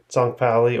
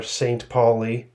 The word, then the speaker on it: St. Pauli: would say Anarchist team FC tonali or St Paulie in the English pronunciation in the German Bundesliga